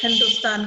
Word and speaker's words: हिंदुस्तान: उन्होंने इसे तान कहा फारसी में स का उच्चारण ह के रूप में होता है अतः यह हिंदुस्तान कहलाया इसी प्रकार इंडस नदी